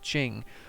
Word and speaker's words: Qing: there is the great I think this is pronounced Ching we took over sakhalin